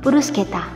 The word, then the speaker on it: bruschetta: Kalau satu ini kata-katanya saja memang sudah sulit, apalagi pengucapannya. Wajar saja kalau kamu sering salah ucap. Yang benar adalah bruschetta.